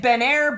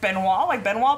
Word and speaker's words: Benoit: Mouse Queen says, I get Benair, Beno, Benot from my last name, B-E-N-O-I-T. I would have pronounced that the French way with the O-I-T. I would have said, like Benoit balls. She says it's Benoit.